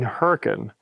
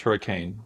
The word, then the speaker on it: Hurricane: were down riding in Hurrican oh yeah we went down to Hurrican to ride commonly mispronounced hurricane for those don't say that and and we ran